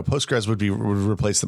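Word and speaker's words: Postgres: just looked it up I thought it was post post grass is that how you say that no no no postres would be would replace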